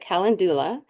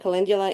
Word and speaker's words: Calendula: to look at cingula some people call it kalandula but kalindula is the official U pronunciation there are at least 15 species of